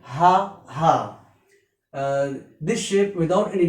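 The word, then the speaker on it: ح: This is H, this is ha. Its pronunciation in English H-A-A, ha. We use for this letter one diacritical mark under the letter H to signify that it is a heavy letter. So because we pronounce it heavily like ha, ha.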